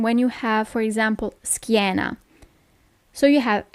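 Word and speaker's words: schiena: you don't pronounce it Sheena but skiena okay normally when you have a c h i the sound is always it's never CH it's k okay it's so hot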